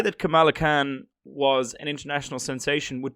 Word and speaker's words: Kamala Khan: I'm going to get the name wrong. Kamala Khan.